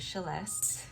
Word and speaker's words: Celeste: Inspired by my name is spelled Celeste, pronounced Celeste.